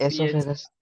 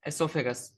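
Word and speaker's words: oesophagus: Food pipe को ही बोलते हैं OESOPH, एसोफेगस। एसोफेगस। ओ को साइलेंट रहता है, ठीक है।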